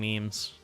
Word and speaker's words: memes: I used to pronounce it Maymays. Oh my god. I don't remember the first way. I mean, there's a lot of cursed ways of saying memes.